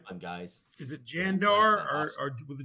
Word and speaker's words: Gandar: Is it Jandar Awesome. or with a G? How do you spell it? Yeah, GAMDAR. Gamdar.